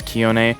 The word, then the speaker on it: Keone: I pronounced it wrong earlier. It is not Keone, it's Keone.